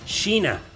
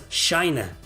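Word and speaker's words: Shaina: I have a poster of me behind me with a character from Saint Seiya, and in Spanish, her name is pronounced as Sheena, but in English, she is pronounced as Shina.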